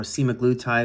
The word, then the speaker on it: semaglutide: Now, LMD offers simaglletide or semaglutide as it's commonly pronounced and tzepide as personalized GLP-1 protocols.